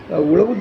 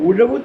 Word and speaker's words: உழவு: உழவு தொழில் அப்படின்னு சொல்லாதீங்க, உழவு தொழில் ழாவை நல்லா உச்சரிக்கணும். அதுதான் நமக்கு தமிழ் மொழிக்கு பெருமை.